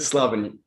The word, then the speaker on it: Slavin: Now you just told me your last name and I forgot the pronunciation again. What is it? Slavin.